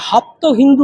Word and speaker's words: হপ্তহিন্দু: জরাতুষ্ট যেখানে প্রফেট সেখানে হপ্ত হিন্দু কথাটা আসে অর্থাৎ সপ্তসিন্ধু ওরা ওরা স কে হ উচ্চারণ করত হপ্তহিন্দু অর্থাৎ সপ্তসিন্ধু তো এটা হচ্ছে ভৌগোলিক জায়গা